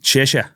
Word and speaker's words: Cheshire: How do you say the last name? Cheshire. Cheshire. Cheshire Cat. Is it Cheshire Cat? Cheshire Cat.